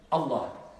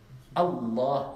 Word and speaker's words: Allah: Est-ce qu'on dit Allah ou Allah? Allah, il y a une shidda.